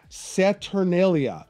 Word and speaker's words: Saturnalia: we got stalled here I don't know how we're going to pronounce this saturnius yeah something along those line yeah hold on I got here saturnalia s a t r n a